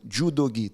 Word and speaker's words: judogi: a compound word so judogi three characters since it's the third character it's not the first it's pronounced with a G so what am I